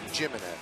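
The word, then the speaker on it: Jiménez: Base Shawn Rodriguez and this is the way he pronounces his name everybody Chris jimnez will catch and he will B ninth it's not himz it's jimnez jimnez well on the mound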